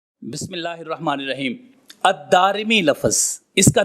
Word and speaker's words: الدارمی: جاننا بھی ضروری ہے۔ الدارمی، اس کا تلفظ یہ ہے، دال کے اوپر زبر ہے، پھر اس کے بعد الف ہے، پھر را کے نیچے زیر اور پھر میم کے نیچے زیر ہے۔ الدارمی۔ اب یہ جو میں